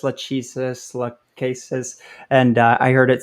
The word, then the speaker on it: Lachesis: uh you know where their their consensus mechanism it's spelled l-a-c-h-e-s-i-s been calling it lachesis lachisis cases and i heard it said it's correctly